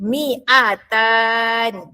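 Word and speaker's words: مئتان: Manakala 200 miatan. Ha panjang panjang pendek kena jaga 200 miatan.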